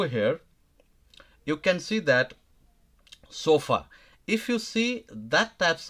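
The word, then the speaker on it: sofá: Okay, for example, o sofa, when you pronounce, it's not sofa. Okay, sofa, it goes a different way.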